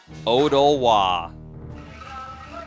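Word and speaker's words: Odolwa: And if you're wondering how to pronounce it, here we go. He's a biggin. There we go. Masked Jungle Warrior, Odowa.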